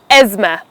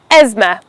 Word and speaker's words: asthma: It's a disease of the lungs, pronounced as asthma. Asthma, not as asthma. The th in the word is silent. You don't have to pronounce it.